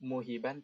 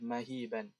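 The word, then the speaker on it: مَهِيبًا: Ini bukan muhiban, tapi yang benar adalah mahiban.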